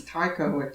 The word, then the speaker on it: Taika: to call it um you're saying his name wrong yeah take a wish too it's taika yeah i heard it's